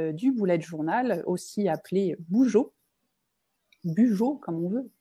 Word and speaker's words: Bujo: Alors nous, on a voulu parler aujourd'hui du bullet journal, aussi appelé Bujo, comme on veut, Bujo. Je prononce à la française.